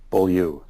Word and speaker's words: Beaulieu: how do you pronounce your last name? Beaulieu. Beaulieu.